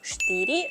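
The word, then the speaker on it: štyri: Якщо я вимовлятиму штирі замість чотири, ви подумаєте: логічно.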